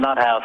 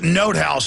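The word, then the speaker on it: von NotHaus: completely bankrupt the banksters this this bernie von nut house case you know jpm is is in the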